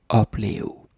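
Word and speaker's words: opleve: time is pronounced like uplio and the v is almost more like a like a u like a blue to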